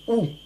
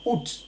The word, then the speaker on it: août: le mois lui est on dit oh c'est ce que dit la phonétique de 4 dictionnaire que nous avons consultés et c'est bien cette prononciation qui est la plus répandue dans l'ensemble de la francophonie même si certains français pour nice le thé finale en 10 ans oat le mois d'août quatrième terme abreuver le